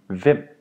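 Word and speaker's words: hvem: H is mute when it is before V or the letter J. So all H V words, which are the words we use to start a question, you do not pronounce the H. You only say the V sound.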